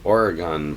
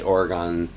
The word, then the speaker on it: Oregon: Who will win the Oregon primary? Now, I say Oregon. I think most of the people there pronounce it Oregon. I'm sure there are variations both within and without the area, but who will win the Oregon primary?